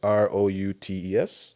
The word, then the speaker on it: Routes: So not roots as in tree roots. It's kind of like as you said like a route like a path.